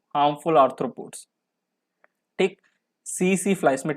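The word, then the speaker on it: tsetse: Absent बोल रहा हूँ, टी साइलेंट होता है। सी फ्लाई, पहले मैं इसको टिसी टिसी पढ़ता था टिसी टिसी, सीसे फ्लाई, ये अफ्रीकन स्लीपिंग सिकनेस कॉज करते हैं।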